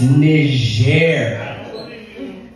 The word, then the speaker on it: Niger: about Niger that is how that country is pronounced it's Niger and I know I know trust me the